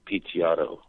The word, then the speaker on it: Picciotto: It's spelled like Guy, uh-huh. Guy, uh-huh. And it's Picciotto.